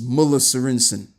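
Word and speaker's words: Møller Sørensen: So it's pronounced Muller Sorensen. Muller. Not Muller, but Muller. Yeah, okay. I think I got it. Slightly. Right, so it's It's Muller. Muller Sorensen.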